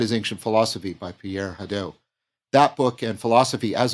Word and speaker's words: Hadot: Could you say more about if I'm getting the pronunciation right, Pierre Hadot? Is that right? Yes. Oh, Pierre Hadot.